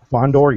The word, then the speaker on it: Fondor: Am I pronouncing that right? No. Fondor, yeah.